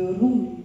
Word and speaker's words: Rumi: Un jour, je suis tombée sur une phrase de Rumi. Alors je le prononce bien là parce que j'étais mariée pendant 19 ans à un Égyptien, donc je me la pète un peu là, Rumi.